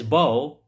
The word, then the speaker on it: bow: And the other is bow rhymes with go. We say bow. It is not bow. It is bow. Go, bow. So the front of a ship.